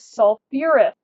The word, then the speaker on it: sulfurous: So we take our stem, our sulf, and I'm going to add an extra syllable because that's what we call it, makes it a little easier to say. And I add my OUS ending. So this is sulfurous.